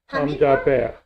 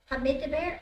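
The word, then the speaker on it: הַמְדַבֵּר: Hamedabar, Hamdaber. Hamidabar, okay, Hamidabar, No, you don't pronounce the it.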